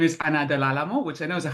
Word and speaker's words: Ana Del Alamo: So, my name is Anna Dealo, which I know is a hard name to pronounce.